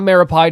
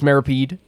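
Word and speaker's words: Meropide: I know it's not Meripide, it's Meripede. I was saying it wrong for a bit, but we try to correct ourselves whenever we can.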